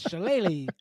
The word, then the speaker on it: shillelagh: to get made fun of for how I pronounce this. It's shillelagh.